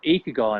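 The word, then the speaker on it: ikigai: that I take my clients through it's called eco guy and it's spelled i ki GA i and it's Japanese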